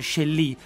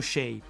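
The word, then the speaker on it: Chelly: il Canyon de Shay è scritto c h e l l y quindi dovrebbe essere Shelly ma in realtà è pronunciato shei Ci sono 2000 anni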